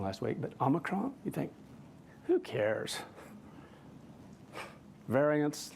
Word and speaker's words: Omicron: think I said it wrong last week, but Omicron, you think, who cares?